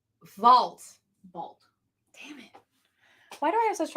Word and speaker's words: Vault: Shadow Service #2 from Volt. No. I learned how to say this word. I can say it. It's Vault.